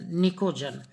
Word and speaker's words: pnicogen: P silent है, PNICOGEN, निकोजन।